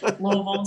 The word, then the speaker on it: Louisville: Oh man, growing up in Louisville, as we say it, you have to really not articulate to say it correctly. Half choke on it a little bit, Louisville.